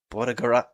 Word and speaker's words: Border: Border is the correct pronunciation of number 20.